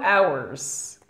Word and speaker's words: hours: study French for two hours mark what two hours maybe four hours okay but two hours hour two hours you do not pronounce the H well this very word